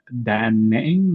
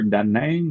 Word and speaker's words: Da Nang: Yes, so for me right now, I'm in Da Nang or Da Nang or Da Nang or Da Nang. There's many ways to pronounce it depending on where you're from, even within Vietnam.